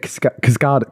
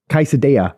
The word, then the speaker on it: quesadilla: Yeah, and you said cascada. Cascada's a singer. Evacuate the dance floor. That's how you said it. Cascada. Quesadilla. Quesadilla.